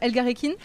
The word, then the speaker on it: Elgarekin: Oui, super, merci beaucoup de m'accueillir sur ta ferme, la ferme Elgarekin, c'est comme oui, ça qu'on dit ? Oui, c'est ça, bien prononcé.